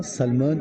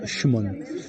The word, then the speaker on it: Sumon: que en fait, Sumon, on l'appelle souvent Salmon. En fait, on l'appelle tout le temps. Les gens l'appellent tout sauf Shumon. En fait, ça s'écrit Sumon, mais ça se prononce Shumon.